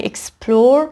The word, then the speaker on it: explore: ولی explore استرس روی سیلاب دوم قرار میگیره.